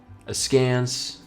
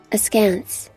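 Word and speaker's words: askance: Is that as can't or as Kant? A scance. Okay. And you say it like that. Hold on, my headphones are off. A scance.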